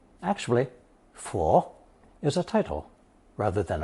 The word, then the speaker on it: 佛: A truer approximation of the Sanskrit can be found in the older southern Chinese dialect of Fujian and Taiwan, which is pwut. The original B sound in Old Chinese has become an F in modern Mandarin.